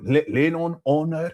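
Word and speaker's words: Lenon Honor: He's going LenonHonor because they wouldn't pronounce the H.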